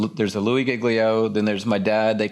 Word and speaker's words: Giglio: at my last name not knowing how to pronounce it and so it would be louie um and i would say giglio and then i would say i go by